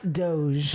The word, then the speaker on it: Doge: Dodge. That's what I do. 5 million, right? Doge. It's pronounced 5 Doge.